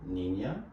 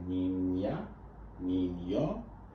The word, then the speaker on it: niña: start here we have nina and nino the tilde makes a sound so here we have nina and this just means